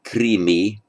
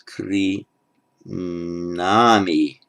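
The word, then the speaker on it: क्रीणामि: It's not krimi, but it's kri nami.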